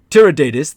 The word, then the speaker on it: Tiridates: Because of this god king, Tiridates, actually, the correct Parthian pronunciation, as opposed to the Persianization that I've been using. Tiridates, the king of Parthia, paid visit to Nero.